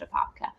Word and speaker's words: Apopka: It's pronounced Apopka. Anyways, basically, it's called Big Potato because Apopka is often referred to the Big Potato because